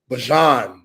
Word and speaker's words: Bijan Robinson: How'd you pronounce his name? Bijan.